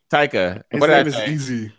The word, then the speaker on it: Taika: yes like Taika Waititi I see I pronounce Taika Waititi tiger but yeah really good